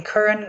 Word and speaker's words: Curran: All right, just to be sure, I pronounced your name correctly, right? I mean, we spoke about Yes. it, but Curran.